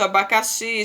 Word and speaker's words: abacaxi: Conheça algumas palavras onde o X tem som de CH, por exemplo, xícara, né? Shampoo, luxo, abacaxi, xarope, baixo, vai ter som de CH, mas se escreve com X, né?